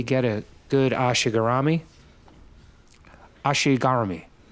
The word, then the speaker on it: ashi garami: a good Ashi garami Ashi garami that's how they say it in Japan my wife corrects me